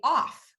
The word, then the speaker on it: of: says and so that would make it say off and it doesn't say off it says of and this is such